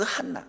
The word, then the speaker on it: 한나: 자, 부족함을 느껴서 하나님께 간구하고 은혜를 입었던 그 한나 하나님께서 결국은 어떻게 해 주셨어요? 한나라고 하는 이름은요. 지금까지도 그 한나 히브리어로는 어 크바음에 가까운하 하는 그 크리 CH 발음 같 비슷하게 합니다. 한나라고 표현을 하고요.